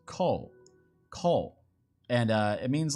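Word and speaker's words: 工: It's pronounced ko, and it means like make, like industry or like carpentry, measuring, that kind of thing.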